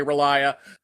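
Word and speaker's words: R'lyeh: sunken city of Ria, which that's another word that it's really easy to pronounce 500 ways I say Ria. Other people say it different ways. And again, these are all meant to be unpronouncable words, so they're all equally valid.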